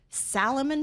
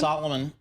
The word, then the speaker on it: Salomon: helped by demand for Salomon shoes. So I ended up Did I mispronounce that one? Solomon. Uh those are the ski boots I wear. Solomon.